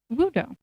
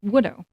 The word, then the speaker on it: Woodo: As that introduction showed, this is Wudo or Wido with how they wrote it. It's Widow.